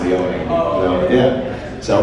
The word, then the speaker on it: Leone: But nobody calls me Leone. They all just call me Leone, which I don't mind, but it's pronounced Leone.